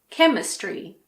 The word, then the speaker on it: chemistry: H is also sometimes silent after a C. For example, chemistry, mechanic, school, stomach, technology.